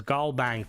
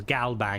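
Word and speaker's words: GalBank: is good, but like don't pronounce it as GBang. Pronounce it as Galbang because that's how it is in game, you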